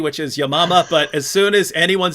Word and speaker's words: Yamama: the battle of i say yamama that she pronounced it correctly which is yamama but as soon as anyone says battle of